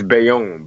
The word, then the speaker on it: Bayonne: at like high schools but now that print pronounced like the name of the city but it's beyond it's Bayonne Bayonne yeah cool um so I know it's